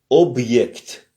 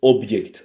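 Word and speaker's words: объект: Donc object, object. L'accent est sur le consonne b et sur le yect.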